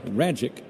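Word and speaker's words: Rajcic: Because the pitcher for the Cardinals last name rhymes with the word magic. I'm going to spell it for you first.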